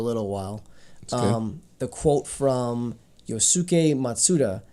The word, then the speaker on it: Yosuke: Side note, the sound in like it's pronounced Yosuke. A lot of times, yeah, the UKE is like shortened, pronunciation wise. So yeah, like it's Yosuke. Yes, I know. You said Yusuke.